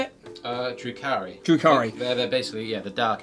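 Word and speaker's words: Drukhari: The Eldari and the Jurukai, how do you say it? Drukari.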